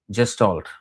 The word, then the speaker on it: gestalt: For although in sociological terms, Vaishnava Dharma could be defined as part of the Hindu gestalt, or again the mosaic, the pluralistic nature of